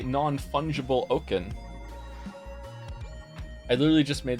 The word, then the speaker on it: fungible: is it wrong what isn't it funable is it fungible funable fungible God damn